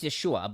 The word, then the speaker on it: Yeshua: Because I thought it was supposed to be pronounced Yeshua. It's Oh, it Yeshua. would be Yes, it is Yeshua, but Joshua is Yehoshua.